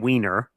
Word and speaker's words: Wiener: John Wiener, yes, that's how you say his name, from